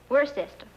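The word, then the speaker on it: Worcester: else too doc but it's spelled w r c e s t e r where sister oh yes I see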